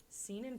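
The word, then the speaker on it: seinen: men that is it seen in pronunciation that sounds like semen and it's kind of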